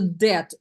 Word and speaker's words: debt: debt very good into debt B is silent yes get into debt